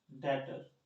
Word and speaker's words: debtor: अब आता है टॉपिक डेटर। इसको डेटर बोलते हैं, बी का प्रनाम नहीं करते यहाँ पर, मतलब साइलेंट है, डेटर बोल देते हैं।